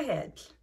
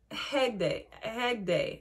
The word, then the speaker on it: Hegde: It has Prabhas and Pooja heads. Or Hegde. Hegde. I say her name wrong all the time because I switch the G and the D.